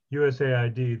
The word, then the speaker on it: USAID: Sometimes people call it USAID, but more commonly it's USAID, the U.S. Agency for International Development. Yes, I came to have a career of over 20 years with USAID as a senior foreign